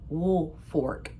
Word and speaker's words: Woolfolk: their name is spelled like Woolfolk, but it's pronounced Woolfolk.